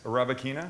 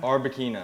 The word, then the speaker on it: Arbequina: Arabicina? Arbequina.